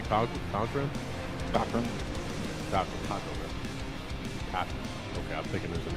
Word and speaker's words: Cochran: Cochran.